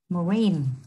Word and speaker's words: marine: âm tiết thứ hai, và marine, cho âm rơi vào âm tiết thứ hai, và câu D, device, cũng cho âm rơi vào âm tiết thứ hai.